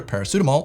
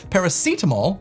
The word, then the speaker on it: paracetamol: what other people say which is either paracetamol or paracetamol paracetamol if you look in the dictionary is actually the correct way of pronouncing the word but language changes over time and it seems like people in the South and myself say paracetamol not right not wrong just different a little colorful